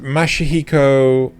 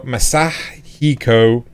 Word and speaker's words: Masahiko: as producer/writer, Ichigo Kano as character designer, and Mashihiko. No, Masahiko. Damn it.